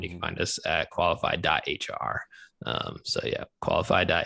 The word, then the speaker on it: Qualifi: know this is audio based so uh it's qualify um and it's spelled with an i instead of a y